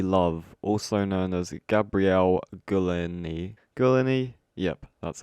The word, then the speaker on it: Gulini: Okay, next we have Dead Body Love, also known as Gabrielle Gulini.